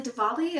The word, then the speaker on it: Diwali: Next, I listened to A Holly Jolly Diwali. I think it's pronounced with the V.